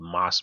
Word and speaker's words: mass: in India they're called Moss movies so it's spelled the same way as mass it's pronounced moss and those are like